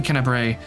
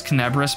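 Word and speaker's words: Kenabres: I know it's Kennebris, but for whatever reason I read it as Kennebrae.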